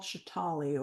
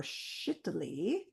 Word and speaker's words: Shitali: The first one is called shiitali or shittily depending on how you pronounce it.